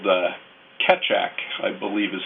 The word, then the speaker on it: Keccak: and that had been whittled down is called Keccak, I believe is how it's pronounced.